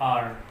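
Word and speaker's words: hour: जैसे आर, आर, तो अब आप ध्यान रख लें कि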